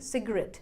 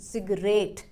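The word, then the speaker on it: cigarette: जो हमारा accent mark है यहाँ पर, वो आपने RET से पहले लगाया है, मतलब स्ट्रेस देना है हमें लास्ट वाले पार्ट पर, मतलब RET पर। तो सही प्रोनाउंसिएशन बन गई सिगरेट, ना कि सिगरेट।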